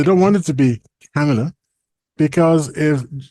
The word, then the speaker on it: Kamala: you've got camela Harris apparently you have to say it like that it's not Kamala you have to say Cala Kamala I don't know why but that's what people say it's not it's not Kamala it's camela okay and apparent I mean